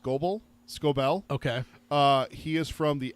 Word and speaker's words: Scobell: Walker, I think his name is pronounced Scobell.